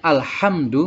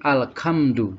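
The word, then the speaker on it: الحمد: Jadi bukan seharusnya alhamdu menjadi alkamdu, tidak boleh. Jadi harus dibaca ha.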